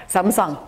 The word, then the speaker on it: Samsung: Korea and visit Samsung that's how they say there Samsung everybody say that we're saying it wrong um and samung uh